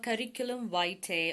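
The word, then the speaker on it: curriculum vitae: CV അഥവാ കരിക്കുലം വൈറ്റെ ഓർ കരിക്കുലം വീറ്റെ, people pronounce it in different ways. You can pronounce it in whatever way you want.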